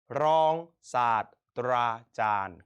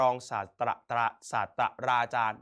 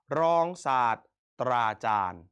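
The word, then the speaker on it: รองศาสตราจารย์: รอง ศาสตร์ ตรา จาน คำ นี้ จะ อ่าน ผิด กัน เยอะ นะ ครับ ไม่ อ่าน ว่า รอง ศาสตราจารย์ ไม่ ต้อง อ่าน เป็น 2 พยางค์ นะ ครับ ให้ อ่าน ขั้ว ไป เลย เป็น รอง ศาสตร์ ตรา จาน นะ ครับ รอง ศาสตร์ ตรา จาน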